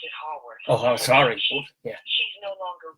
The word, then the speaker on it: Haworth: Was it Jill Hayworth or something? Was it? Jill, I think her name. I think you pronounced it Haworth.